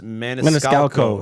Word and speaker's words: Maniscalco: No, there's a C at the end. It's Maniscalco. Yeah, that's what it- Maniscalco.